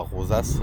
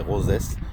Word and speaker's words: Roses: C'est pas rosas, c'est rosess. Ça s'écrit rose.